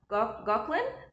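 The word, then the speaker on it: Gauquelin: And um I think it I think it's pronounced Gawklin the the Mars effect.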